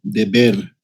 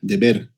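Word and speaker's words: דֶּבֶר: Esta palabra pestilencia se pronuncia deber como deuda, deber, así se escribe la transliteración.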